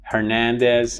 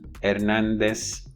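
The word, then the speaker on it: Hernández: them as Sanchez, Gomez, Hernandez, Diaz. In the case of Hernandez, the H is silent in Spanish, so you don't say Hernandez.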